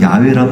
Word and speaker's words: 야훼: 여기서 야훼란 말이 지난번에도 말씀드렸지만 여호와란 말의 정확한 발음이에요.